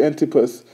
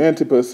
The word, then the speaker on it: Antipas: days where uh anti antus I said it wrong in the beginning Antipas was my faithful martyr